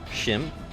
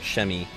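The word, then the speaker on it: Przemyśl: on the fortress of Shim. Or is it Shemi? It looks like Shemishil, but you don't pronounce the L.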